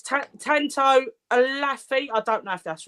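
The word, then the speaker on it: Olaofe: It's Tanto Alafi. I don't know if that's right. Yes, that's right. Yeah, Alafi.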